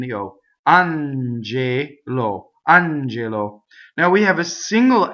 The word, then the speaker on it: angelo: on JLo on JLo so the accent is on the first syllable in this word it's non-typical stress and both of the other vowels are closed the e yo on j.lo Angelo now we have a